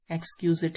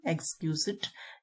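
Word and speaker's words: exquisite: Dainty means छोटा एवं सुंदर, स्मॉल एंड ग्रेसफुल, एलिगेंट, एक्सक्यूजिट है इसकी प्रोनाउंसिएशन, एक्सक्यूजिट।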